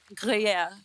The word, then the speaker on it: Gruyère: Jacqueline ने pronounce it. Jacqueline क्या नाम है इसका? Chateau de Chateau? Gruyère.